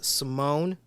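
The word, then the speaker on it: S1m0ne: would say watch simone most of us pronounce it as simone some people say s one mo n e or s s1 m zero n e uh but most of us call it simone that stars al pacino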